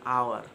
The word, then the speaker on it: hour: Awas tapi itu salah bukan our tapi an hour Kenapa an hour karena ingat dikata hour high tersebut adalah silent letter jadi kita menyebutkannya secara